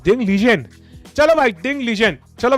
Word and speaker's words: Ding Liren: Right pronunciation is डिंग legion.